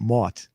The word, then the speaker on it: Martin: So, not Mart, but Mort, because Yes. that's how they say it from New York.